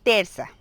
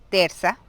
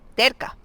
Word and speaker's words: terça: Cuando aparece esta C, se pronuncia como S, es decir, terza, normal, como S. Porque si fuera una C normal, sería K, terca, ¿ok?